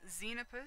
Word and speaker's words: Xenopus: this give me a second okay so it's xenopus so the xenopus frog and the tree frogs